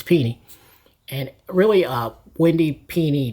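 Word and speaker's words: Pini: Uh been pronouncing that wrong so long. I was always saying Penny, but it's it's Pennie.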